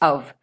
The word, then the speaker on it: of: Of is pronounced as of. Please be very careful with the usage of preposition of. It is not the f sound that is used, it is v that is used in case of, and it is